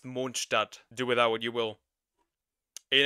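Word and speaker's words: Mondstadt: and it's technically German, so it's actually pron pronounced monadat.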